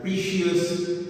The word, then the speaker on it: precious: This word is not to be pronounced as precious or precious. It is precious. Okay? So please note the pronunciation. The pronunciation of the word is precious.